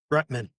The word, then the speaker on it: Rutman: I just said your last name wrong. Say it for me. Rutman.